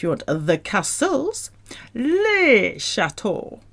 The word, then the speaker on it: châteaux: If you want the castles, les châteaux with an X at the end. Don't pronounce that X though. That's not in Frolic Barbecue. Les châteaux.